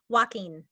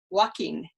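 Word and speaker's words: Jaquin: always get it wrong walking walking j-a-q-u-i-n which i would go not walking walking yeah it's a um it's a spanish name i believe there's an actor an american actor walking in phoenix which would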